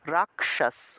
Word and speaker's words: রাক্ষস: তারপর মনে করেন যে রাক্ষস, বাংলায় বললে রাক্ষস, কিন্তু সংস্কৃতে উচ্চারণ করলে এই যে ক্ষীয়টা ক যোগ মূর্ধন্যর সাথে ভেঙে যাবে, ক এবং মূর্ধন্যর সাথে ভেঙে যাবে, তাহলে রাক্ষস রাক্ষস এইভাবে উচ্চারণটা হবে। তাহলে রাক্ষস থাকলে আমরা উচ্চারণ করব রাক্ষস।